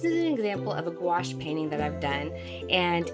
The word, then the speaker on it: gouache: Okay, so today I wanted to do a little segment on gouache. Um, people ask a lot about gouache. Gouache, it rhymes with squash, but it is actually spelled I don't know if you can see that right there.